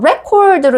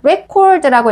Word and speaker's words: record: 그런데 여러분 여기서 record로 읽어주면 스펠링은 똑같은데 record라고 읽어주면 명사로 기록이란 뜻도 돼요.